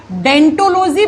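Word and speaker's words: Odontology: लिखा जाता है ओ से जब आप प्रोनाउंस करते हो तो ओ साइलेंट हो जाता है और हम इस ब्रांच को इस शाखा को हम डेंटोलॉजी कह देते हैं।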